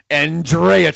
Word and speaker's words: Andreychuk: You were phonetically correct, Nate. Andreychuk.